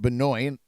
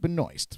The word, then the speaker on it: Benoist: French would pronounce it Benoit or Benoit but uh apparently her family and her uh pronounce it Benoist so there you go